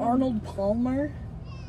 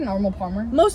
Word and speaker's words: Arnold Palmer: it's like because like I just want to say can I get a normal Palmer you don't even have to press the L Palmer Arnold Palmer Palmer Palmer Arnie Palmer